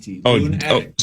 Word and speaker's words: Loon Addict: Loon Addict. See, there you go. That's different. That's spelled like addict.